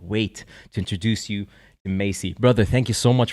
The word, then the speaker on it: Maciej: It's Maciej. Maciej. I'm so sorry. Maciej. All right. So in Polish, the C is a ch.